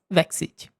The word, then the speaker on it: Vexite: So, I will say sorry if I say the name wrong and then when you hear the pronunciation, please remember that is Natkyn and Vexite.